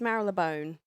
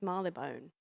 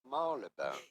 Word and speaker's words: Marylebone: It may look like it should be pronounced Marylebone, but it's not at all how it is said in the UK, or in London at least. It is usually pronounced as Marylebone.